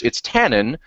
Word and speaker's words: Tannen: And then it's Tannen rather than the French pronunciation of Tannen, because reasons, goddammit, I don't know.